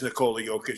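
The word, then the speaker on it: Nikola Jokić: for the NBA, they have the players speaking uh his name uh and he says Nicole Joic. So, I'm going to go with that.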